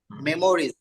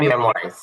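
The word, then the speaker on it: memorize: মেমোরিজ, মুখস্থ করা। মেমোরাইজ, মেমোরিজ না মেমোরাইজ।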